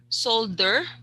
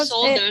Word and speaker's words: soldier: States okay and also I noticed solder inste instead of soldier soldier soldier soldier soldier yes okay the okay great